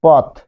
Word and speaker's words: পথ: যেমন পথ বেশ কিছু তৎসম শব্দ স্বাধীন ব্যবহারে হসন্ত উচ্চারণ হলেও যেমন পথ। পথ শব্দ যখন বলছেন তখন পথ এখানে কিন্তু আপনি থেমে যাচ্ছেন তাই না পথ থেমে